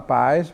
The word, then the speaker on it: PAES: L'accento nella parola PAES va messo sulla A, che vuol dire azione, cioè non sono dei